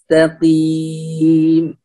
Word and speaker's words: المستقيم: اهدنا الصراط المستقيم، أيضا كلمة المستقيم هنا، الكلمة هذه كل الحروف مرققة ما عدا حرف القاف، فنقول المستقيم المستقيم.